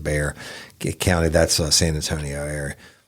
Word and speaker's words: Bexar: I know I got this name wrong once, Bexar, but I think they pronounce it Bear County.